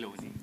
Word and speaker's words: Loni: Over to the brand Loni. Am I pronouncing it right? Loni.